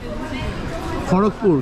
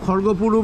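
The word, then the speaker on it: খড়্গপুর: এর পরবর্তী হল্ট হচ্ছে আমাদের খড়কপুর কেউ কেউ খর্গপুরও বলে কেউ কেউ না ওইদিকের লোকজন খর্গপরি বলে খর্গপুর খর্গপুর খর্গপুর প্রোনাউন্সে ডিনারটা কমপ্লিট করে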